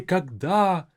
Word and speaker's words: когда: But make sure when you have this word in a sentence, you give it some air. You give it some freedom to kind of fly off. Когда. Pronounce it with a bit more of that airy kind of feel to it.